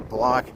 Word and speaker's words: Bloch: This is the Richard and Annette Block, BLOCH Cancer Survivors Plaza. I got to say it right, the Block, BLOCH Cancer Survivors Garden here.